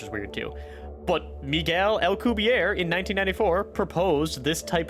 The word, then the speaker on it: Alcubierre: In the Wikipedia here, it says it uses the Albuquerque... No, that's not it. Alcubierre? Hold on. Alright, let's see how Google here says to pronounce this. Alcubierre.